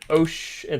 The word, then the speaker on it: ocean: And then ocean. Like a ch sound. Ocean.